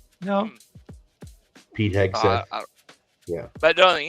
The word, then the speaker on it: Hegseth: because there's people that actually Can't pronounce this guy's name. Hegseth. Hegseth. No. Pete Hegseth.